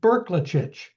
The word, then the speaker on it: Brklacich: And I guess first thing we should know about is how to pronounce his name. He is a little tough. He taught me at Berkelitch. Professor Berkelich from Carlton University is going to be our speaker.